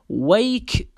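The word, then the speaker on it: wake: به او فيه يعني ويك اب ويك بالاخير صامته ما تلفظ ويك اب ويك اب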